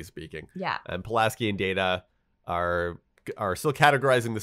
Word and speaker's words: Data: than data and he says no it's it's data he corrects her the pronunciation of his name yeah and then she